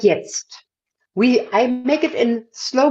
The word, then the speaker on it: jetzt: Whenever we have some short word in Germany, like jetzt, I make it in slow motion for you. I would sing wie jetzt. I pronounce the etzt, the E-T-Z-T, another time before I jump off.